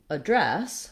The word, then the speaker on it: address: that a vowel correct you can also say address for the noun which would mean that you're using dress as your stressed syllable so it's long it has the f vowel and then you want to have just a really short unstressed uh sound for the letter a here this is